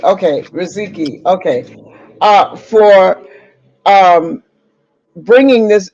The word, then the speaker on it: Riziki: How do you pronounce it? Riziki. Riziki. Okay, Riziki.